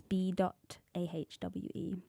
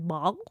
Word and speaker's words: B-ahwe: But everyone just says "bog." Oh my goodness! It's B-ahwe. It's like separated.